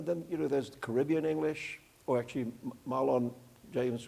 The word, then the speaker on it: Caribbean: Because of course, in the Caribbean, it's the Caribbean. It's not the Caribbean. So just a little pronunciation note.